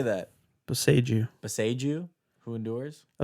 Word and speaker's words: Boseiju: I did Bozaju, who endures. Bozaju? Bozaju? How How do you say that? Boseiju.